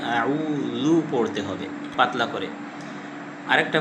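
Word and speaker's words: أعوذ: আইনের মাখরজ হলো হলকের মধ্যখান।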